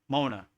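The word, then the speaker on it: mauna: Mona mean it's spelled M A U N A. Mona.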